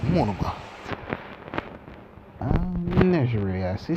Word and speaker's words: Nejire: This guy got this girl named pronounced it all. Nejire. Yes, Nejire.